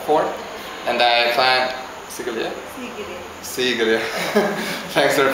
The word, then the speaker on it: Sigiriya: Sigiriya. Thanks for the pronunciation.